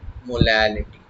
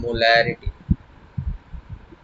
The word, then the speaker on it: molality: concept that is your molality okay so previous one was molarity it was molarity and it is molality so this small pronunciation error can create some mistakes so that is a molality now what is molality molality